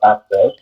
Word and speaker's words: AXCEXX: Yes, so it's pronounced Access, and it is a men's but unisex accessories line.